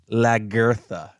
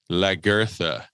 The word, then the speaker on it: Lagertha: So Nate just said they pronounce it Lagertha. Lagertha. So they do say like girth.